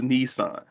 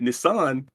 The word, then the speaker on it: Nissan: The Nissan marketing exec. All these years, I thought it was Nissan.